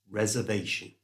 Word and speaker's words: reservation: We're also going to use the schwa sound to replace the O right towards the end of the word.